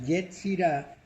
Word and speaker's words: Yetzirah: Y Yetzirah se escribe con Y y Z. TZ, Yetzirah.